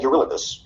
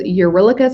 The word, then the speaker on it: Eurylochus: I've always heard as Eurylochus, so I'm going to just keep calling him Eurylochus. I think it's one of those things that we don't actually have a true pronunciation anymore. But I've heard it both ways by professional people. So up to you. I go with Eurylochus.